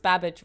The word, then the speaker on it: Babbage: I always know it is pronounced babbage rhymes with cabbage.